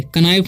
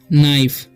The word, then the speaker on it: knife: लिखा हुआ है KNIFE, तो इसे पढ़ते हैं हम नाइफ, ठीक है, कनाइफ नहीं पढ़ना है, ठीक है। यहाँ पर जो है के साइलेंट है, तो इसे पढ़ते हैं हम लोग नाइफ, ओके।